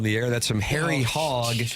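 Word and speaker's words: Hoge: That's some from Harry. Hog. Do you pronounce it hog? It's h o g e. Harry and it's h o would be like that. I would try to say hogy if it were me.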